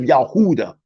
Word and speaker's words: Yahuda: their sins like the descendants of yahuda or Huda which is the true pronunciation of Judah list sing Mr Marcus